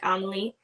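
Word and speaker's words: Emilie: is Emily but like it's spelled e-m-i-l-i-e kind of like Amelie Emily like it's in Germany this is where it's set so it'd be pronounced more like Amelie um and I like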